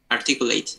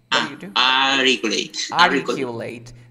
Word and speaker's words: articulate: at this one articulate you say articulate no we have rt vowel sound articulate they have article you